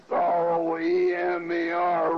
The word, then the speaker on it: Roemer: Charles Conrad, and they pronounced R-O-E-M-E-R, Roemer, the German pronunciation.